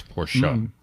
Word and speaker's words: Porsche: It's Porsche.